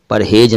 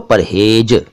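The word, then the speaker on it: परहेज़: नीचे नुक्तो है गो, परहेज ना कहियो इसको बोलियो परहेज। जा ना बोलियो, बोलियो जा नुक्ते वाला जा, ऐसो बोलियो परहेज नुक्ते वाला।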